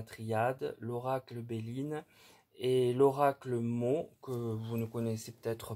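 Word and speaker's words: Mauho: l'oracle Béline et l'oracle Mo que vous ne connaissez peut-être pas. Je vais vous montrer la boîte au cas où. Donc ça s'écrit M-A-U-H-O. Voilà, le zoom est bon.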